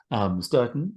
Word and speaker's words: Stourton: Hello, Christoph, and amazingly pronounced, Sturton.